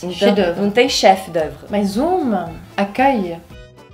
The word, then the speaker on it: chef-d'œuvre: O che escreve igual chef. Fala chef de cuisine. Chef. Mas não pronuncia o F, né? Não, on prononce pas le F. Então, Chef-d'œuvre.